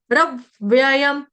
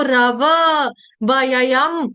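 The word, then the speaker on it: रव्ययम्: रब व्ययं रब व्ययं अभी रब्यम में मैं कैसे उच्चारण कर रही हूं? र पूरा आधा वक्ति व्यक्ति वाला गोल आधा व ओ की तरह जो व आपको दिखता है ना आधा व व्यक्ति वाला रब व्ययंम इसको रव वयंम ऐसे नहीं पढ़ना है ये गलत उच्चारण हो जाएगा रब व्ययंम रब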